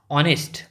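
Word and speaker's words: honest: ऑनेस्ट। अब देखो हम भले ही ये ऑनेस्ट लिखा है मतलब एस लेकिन एस साइलेंट रहता है।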